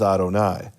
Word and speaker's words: Adonai: Because the tradition is when you see the letters Yud, Hey, Vav, Hey, you pronounce them as Adonai.